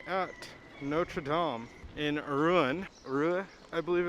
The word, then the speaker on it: Rouen: Rouen, I believe it's how it's pronounced. The N is silent, is what someone told me last night.